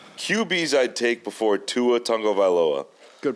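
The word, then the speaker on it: Tua Tagovailoa: you land on it's QB's I'd take before Tua Tango valoa good pronunciation thank you you've trained me well uh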